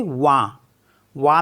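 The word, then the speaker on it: vin: related जैसे वी आई एन तो इसको पढ़ेंगे वा वा मीस होता है वाइन एफ आई एन इसको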